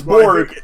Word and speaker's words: Borg: it's big and it's Borg it's Borg like you know in Star Trek even if you remember